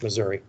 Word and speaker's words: Missouri: Number one, stop importing slaves into Missouri. I pronounce it that way. That's how folks in Missouri pronounce it. Unless you live in St. Louis, then it's Missouri.